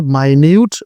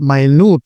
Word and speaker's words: minute: করা হয় তখন কিন্তু এর উচ্চারণ আর মিনিট থাকে না। এর উচ্চারণ হয়ে যায় মাইনিউট বা মাইনুট I repeat my Newt বা মাইউট কেউ যদি কোন কিছুর